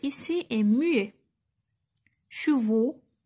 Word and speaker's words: chevaux: Chevaux, la même chose, ما نطقتهاش دونك حتى هي غنطوريها.